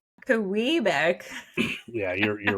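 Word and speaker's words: Quebec: guys on Kuwait Street, turn left on Kua Abeck Street. You're like, "This is the name of a province that is clearly pronounced." This is a pretty major pronoun in this country. It's Kbeck.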